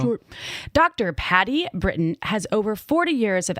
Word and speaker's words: Britton: Patti Britton. Did I say it right? Like Britain, like Great Britain, who I've actually known of for many years.